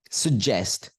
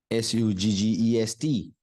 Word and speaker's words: suggest: sir sir do you understand that next word suggest s u g g e s t suggest sir not suggest suggest suggest repeat with